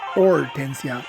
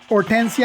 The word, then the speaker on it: Hortensia: Or Hortensia, although it should be Hortensia because, yeah, the name it should be Hortensia with a silent H, not Hortensia.